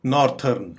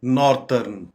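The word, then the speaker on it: northern: areas बहुत ूर है तो इनको आमतौर पर हम गलत प्रोनाउंस करते हैं और यह कहते हैं कि नॉर्थन हालांकि इसकी करेक्ट प्रोनंसिएशन है नॉर्दर्न नॉर्दर्न नॉर्दर्न शुमाली नॉर्दर्न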